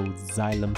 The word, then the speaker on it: xylem: The next specialized plant cell we're going to look at are xylem cells. Notice how the XY is pronounced like Z, so xylem cell.